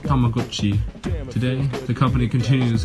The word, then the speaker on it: Tamagotchi: Properly pronounced Tamagotchi, today the company continues its 90s trek with technology, adding infrared communication to newer models.